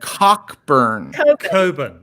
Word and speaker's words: Cockburn: he realizes very important cockburn that's how you pronounce that name in english thank you see that's